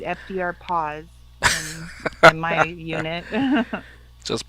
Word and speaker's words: FDRPAS: r p a s that's not even pronounceable i they call it fdr paws my unit just pronounce